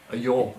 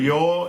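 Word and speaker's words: ljå: A yaw in Norwegian. A yaw in Norwegian. LJO. It's that. The A with a O on top.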